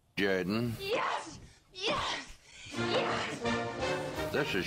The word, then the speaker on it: Jordan: the Auburn Tigers say no no it's pronounced Jorden yes yes yes this